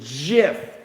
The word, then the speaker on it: GIF: It's called, by the way, a GIF, like the peanut butter we have in the States. Not a GIF, even though it's spelled G-I-F.